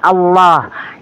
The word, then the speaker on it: Allah: Padahal itu punya Muslim, pengucapan yang benar itu adalah L-nya itu tebal, Allah.